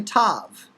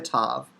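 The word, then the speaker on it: ת: when we transliterate and it's simply pronounced as in the personal name tamar now you see the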